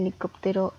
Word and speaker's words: helicóptero: helicóptero lápiz y símbolo podemos ver que el helicóptero está dividida en cinco sílabas y la sílaba tónica es cop y podemos verlo porque